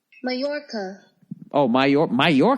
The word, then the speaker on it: Mallorca: it where's the microphone how to pronounce Matt Lorca Mallorca come on say it say it say it Majorca that's it Majorca oh my you're my